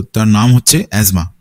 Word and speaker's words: asthma: তো তার নাম হচ্ছে অ্যাজমা এটাকে অনেকে এস্থেমা বলেও জেনে থাকে কিন্তু এর আসল যে উচ্চারণ সেটা হচ্ছে অ্যাজমা তো এই রোগটা রোগটা